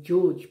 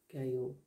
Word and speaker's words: Georg: an artist german artist by the name of gay or basalitz i'd have pronounced his name george before last week but i looked him up